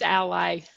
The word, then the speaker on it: Ally: And again, Ally, is that how you pronounce it? It's Ally.